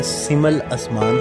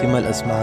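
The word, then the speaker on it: Seemal Asman: लेकिन सर, नाम मेरा सिमल असमान है, SEEMALASMAN, सिमल असमान। प्रोनाउंसिएशन के लिए मैंने ये स्पेलिंग कर दी।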